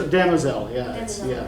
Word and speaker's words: Damozel: Did you pronounce that right, Damsel? Yeah, Damozel.